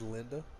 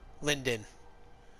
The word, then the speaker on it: Lyndon: Did you say his name is Linda? Lyndon.